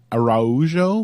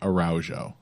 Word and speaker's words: Araujo: Alexa Grosso versus viviani I am going to struggle trying to say araujo which I think is the correct pronunciation I'm just going to start saying araujo okay it's Alexa Grosso